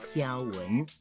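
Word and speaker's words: 均勻: 均匀的台语念作胶纹，例如，咱呀发嘎金胶纹。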